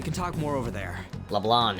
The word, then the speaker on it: Leblanc: talk more over there Leblanc it bothers me I know that's probably the the correct way of pronouncing it but it bothered me so much but they don't pronounce the C it just sounds like